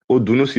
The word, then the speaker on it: Odunusi: How do I pronounce My name is Odunusi.